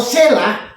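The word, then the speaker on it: צלע: Sela, T Sela. Jadi bacanya Sela.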